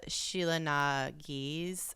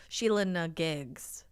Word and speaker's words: Sheela na gig: the name itself uh Sheila nagis um okay I thought it was a hard G I thought it was Sheila Giggs uh the name comes